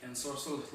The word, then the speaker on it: ensorcelled: Ensorcelled, obviously same name, but a lot of people pronounce it wrong. It's going to be like ensorcelled, like magic, but there you go.